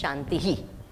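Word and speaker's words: शान्तिः: The last Visarga we say is Ihi.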